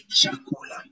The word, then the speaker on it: chakula: So in the letter CH in Swahili, we pronounce it as ch, like in the word choice. Ch. Like in the word choice, then you will say chakula, chumba, chakula, chumba, chakula, chumba.